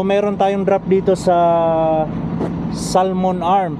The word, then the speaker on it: Salmon Arm: tayong drop dito sa Salmon arm pero ang pronounce nila dito salon arm silent L So yun guys Ah